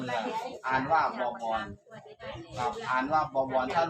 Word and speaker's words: บวร: ว แหวน แล้ว ก็ ร เรือ อ่าน ว่า บวร กับ อ่าน ว่า บวร ท่าน รวม กัน มัน